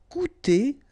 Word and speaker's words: coûter: Coûter dans les 50 euros. Coûter dans les 50 euros. Okay, remember we've got this accent circonflexe on the top of U here, but then you don't pronounce it.